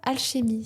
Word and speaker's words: Alchémie: Tu lances aujourd'hui Prana Alchémie ? C'est juste comme je prononce. Alchémie ? Ouais. Ouais. Oui, mais oui, oui, tout à fait juste.